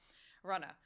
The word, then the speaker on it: Runnah: a few moments so Runa what is Runa well essentially it is the Massachusetts spelling of Runner because this is how we pronounce things in Massachusetts we drop the r and thus you get